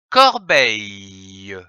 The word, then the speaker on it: corbeille: L'association des syllabes corps, beille, donne le mot corbeille, comme une corbeille. C-O-R, corps, B-E-I-L, beille, L-E, le, que l'on prononce corbeille.